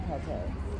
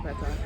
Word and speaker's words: pad thai: Chicken pate. Chicken pad thai? Is it pate? I don't know how it's spelled. I just assumed it was pronounced pate. Yeah, it's pad thai.